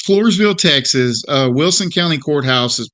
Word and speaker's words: Floresville: Texas is that right Marcus yeah that's correct Floresville Texas okay I thought I was going to butcher the name of the town but it's Floresville Texas uh Wilson County Courthouse you know Courthouse